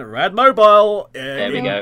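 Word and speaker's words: Radmobile: own game yep so correct pronounce A rad mobile like you would do Batmobile or whatever it is yeah I'm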